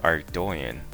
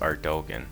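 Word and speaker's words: Ardougne: But the way I used to pronounce it was Ardogan or Ardonan.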